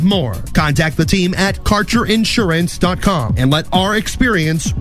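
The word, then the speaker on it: Kaercher: Your connection to quality cannabis insurance services is spelled K A E R C H E R. That's Carter Insurance.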